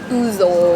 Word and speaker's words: ouzo: Ouzo. Ouzo. Yeah. That's right. So this is It's ouzo. spelled with an O, right?